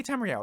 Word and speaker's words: Tamriel: Tamriel yeah we say Tamriel that's what I've said every time before Tamriel rhymes with swell right I'm not going